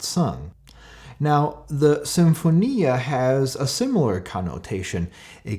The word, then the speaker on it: symphonia: not sung now the symphonia has a similar connotation it comes from greek and you know the first syllable s-y-m-sim like in symbiosis always means something that